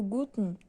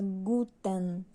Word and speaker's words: Guten: Por exemplo, se você for observar, o Guten, você suprime, quando termina em N, você suprime esse final. Então, você não pronuncia Guten, você pronuncia Gut.